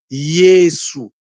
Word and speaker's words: Yesu: Lorsque vous vous enlevez le I, donc c'estàdire vous remplacez le J par le I, vous avez Yesu. Et quand vous écouter les mamans faire la prière en kikongo, ils vont vous c'estàdire ils vont vous prononcer ce mot-là correctement.